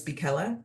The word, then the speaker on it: Bella: meeting my name is Bella as in rhymes with Nella and I'm joined tonight